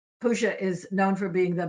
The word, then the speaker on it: Pushya: and 20-minute area called Pusha, where your moon is. You, Mr. Client, can look that up online. Pusha is spelled Pushya, and you can get further elaboration on that.